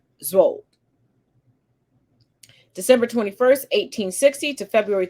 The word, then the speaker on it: Szold: as Israel with Miss Henrietta Z I think that's how you pronounce it it's SZ o l d if I mispronounce it my apologies I've heard so many different pronunciations I'm taking the middle ground so we'll just say Z December 21st 1860 to